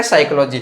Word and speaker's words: psychology: तो साइकोलॉजी में फिर से देखो यहाँ क्या है, पी है साइलेंट है। ठीक है, पी साइलेंट है तो यहाँ इसको बोला साइकोलॉजी।